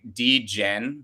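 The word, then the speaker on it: Djen: name for a dj d-gen but it's spelled d-j-e-n and it's a girl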